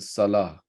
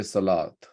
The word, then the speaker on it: salah: Same thing with salah. We don't say salat. Salah is when you pronounce the ta marbuta, which is basically ha.